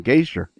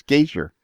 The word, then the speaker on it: Gasior: that it just slips right off a ton gazer rather than pronounce the rather than pronouncing the vowels easier it's gazer correct yes Wow it's actually a Polish name